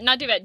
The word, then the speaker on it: duvet: Like, where's your emphasis? Kai's putting emphasis on the different syllable. On the wrong syllable, yeah.